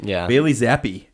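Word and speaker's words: Bailey Zappe: I like an underdog Bailey zappy that's how you actually say his name yeah Jim Nance was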